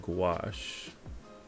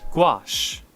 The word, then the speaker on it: gouache: a hobby store and I said gouache and she corrected me gouache okay so it is gouache so that that lady